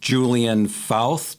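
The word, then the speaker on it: Julian Fauth: And is that the artist Julian Fouth? Did I pronounce that correctly?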